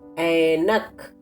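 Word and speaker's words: ऐनक: Say Ainak. To pronounce A correctly, pronounce it as you pronounce AE in English word aeroplane.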